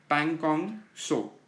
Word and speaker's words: Pangong Tso: सो Galwan valley and पैंगोंग सो, टी is silent.